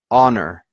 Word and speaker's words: honor: so it is an honor because the H is silent so you listen so